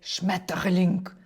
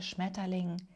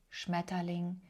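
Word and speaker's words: Schmetterling: Насправді це чудове слово, якщо його правильно вимовляти. Шметалінг. Шметалінг без р всередині. Так, ер тут в цьому слові вокалізується.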